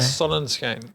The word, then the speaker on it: Sonnenschein: Sunshine é inglês, né? A minha língua é Sonnenschein.